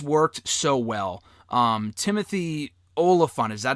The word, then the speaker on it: Olyphant: and it just worked so well um Timothy Olaf is that how you pronounce his last name yeah okay so he